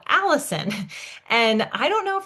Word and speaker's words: allicin: And I don't know if there's a correlation with the name Allison. It's obviously spelled a little bit different, but I was like, wow, it's literally pronounced the same way. So this allicin is garlic's protective compound.